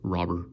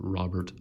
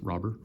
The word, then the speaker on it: Robert: a translator and he said in Cuba it's pronounced robber people here tend to pronounce it Robert I go more by robber and have insane